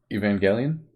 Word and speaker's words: Evangelion: mechs in them Evangeline evangelion I don't know is it a soft G yep that's uh that's my